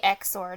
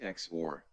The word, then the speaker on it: XOR: like sore yeah it's actually supposed to be exor notor it's it's exor it's like exor because stands for 19 says just accept it is pronounced X or no I I accept it it's just like